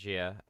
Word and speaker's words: Xia: Xia, so XIA, Gia, I would say it's pronounced Gia. Legends of Adrift system, and